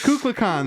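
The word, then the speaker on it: Kukulkan: It's cucon. That's how they pronounce it.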